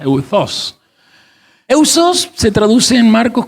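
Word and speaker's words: εὐθύς: La palabra eudos, así se pronuncia, maestra, eudos.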